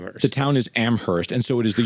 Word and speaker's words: Amherst: I had no idea that Amherst had two different ways to say it. It does. Well, there's the pretentious way. The college The college doesn't pronounce the H.